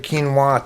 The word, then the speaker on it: quinoa: quinoa is like chipotle it's not pronounced like it's spelled back to the topic